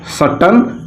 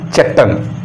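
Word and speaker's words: Chatton: Given by terms, given by इसे कहा जाता है बच्चों सट्टन। आप पढ़ सकते हैं चट्टन, हैं? देखिए इसका शुद्ध जो है प्रोनाउंसिएशन है वो सट्टन, लेकिन हम इसे पढ़ते हैं चट्टन।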